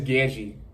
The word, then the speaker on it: Gadzhi: group and I actually I've been pronouncing this last thing I'm pretty sure it's Genji um so yeah basically